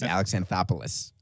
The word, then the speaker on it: Alex Anthopoulos: what is it it's alexanthopolis yeah that sounds better as in the acropolis which also happens to be in greece yeah all right how